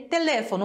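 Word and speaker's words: teléfono: sim de sílaba tônica porque a sílaba tônica em língua portuguesa é telefone no for já em espanhol fica no Le na sílaba anterior então não é a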